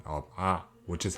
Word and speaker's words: ㅏ: This vowel is pronounced as ah, or similar to the sound where you make by screaming ah, just not strong, so ah.